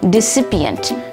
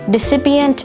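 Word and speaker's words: desipient: Today's word of the day is decipient, spelled D-E-S-I-P-I-E-N-T, decipient. Decipient had one alternate pronunciation, decipient.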